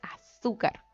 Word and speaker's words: azúcar: voz tenemos su carro decimos a azúcar azúcar o azúcar bien decimos azúcar por lo tanto esta es la sílaba tónica ya la sílaba tónica